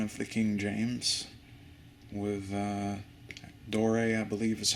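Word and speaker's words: Doré: Nice Barnes & Noble Classic Edition of the King James with Dore, I believe is how it's pronounced, Dore's illustrations.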